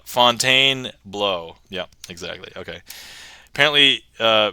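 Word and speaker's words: Fontainebleau: and then um f Fontaine Blue Blue but actually we were discussing and if you pronounce this correctly cuz like bow is be auau so this should be uh Fontaine blow yep exactly okay apparently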